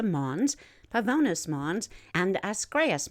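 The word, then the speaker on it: Ascraeus: pavonus mons and the escrias mons asgrace that's spelled a-s-c-r-a-e-u-s it's the tallest at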